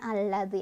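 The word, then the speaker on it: الذي: Sehingga lam yang sukun ini nggak dibaca, bacanya langsung ke lam kedua sambil ditekan ya.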